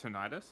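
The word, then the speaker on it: tinnitus: That's tinidis. Often caused by exposure to One of my favorite things about tinidis is is uh it's pronounced tonitis.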